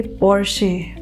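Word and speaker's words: Porsche: इसे हम Reno pronounce करेंगे, ना कि रेनॉल्ट प्रोनाउंस करेंगे। ठीक है, हमारी अगली गाड़ी ब्रांड है ये, और इसे हम कहेंगे पोर्शे। पोर्शे, ये गाड़ी अक्सर बहुत लोगों को पसंद आती है गाइज, तो इसे हम पोर्शे नहीं कहेंगे, इसे हम पोर्शे कहेंगे, पोर्शे।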